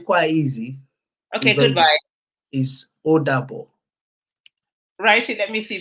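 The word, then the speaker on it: Ó dàbọ̀: Odaba. Odabo. Oh, that's a Spanish. The first time we pronounced it was a very Spanishy. This time we need to make it more Nigerian. Odabo.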